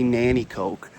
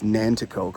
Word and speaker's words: Nanticoke: But, uh they call it they say Nanticoke, but it's Nanticoke. I'll put it up on screen here so you can see how it's spelled, and then you'll hear the difference in how it's pronounced.